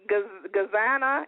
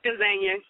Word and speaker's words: Gazania: Hey, now, am I pronouncing Gazana? Am I saying your name right? It's Gazania. Gazania.